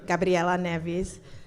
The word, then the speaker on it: Gabriela Neves: here yes hello everyone I'm Gabby Nevis or I think most of you can say my name properly so I'll say Gabriela Neves um I call myself